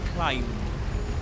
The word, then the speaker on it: climb: You don't pronounce the B at the end. You say climb.